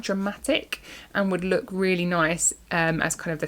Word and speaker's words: gneiss: It is spelled with a G, a silent G. So G N E I S S. Nice.